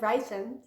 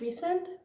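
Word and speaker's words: Rhysand: pronounce his name because I always said said ryzen because I thought that sounded very very good in my head but apparently it's recent recent is that it I'm having a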